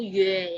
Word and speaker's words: yue: Ada lagi satu yaitu yue ya. Yue. Jadi yu dan bacanya yue. Penulisannya adalah y u e.